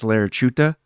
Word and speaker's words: Laricchiuta: I looked at it I thought it was larich chuta yeah is that close it's it's it's really close yeah it's really simple